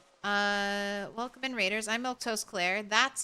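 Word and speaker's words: Milquetoast Claire: I'm Milto Claire.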